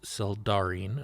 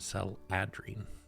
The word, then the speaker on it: Seldarine: to pronounce words well it's Cel darine not cell adrine the D comes before the a okay uh would I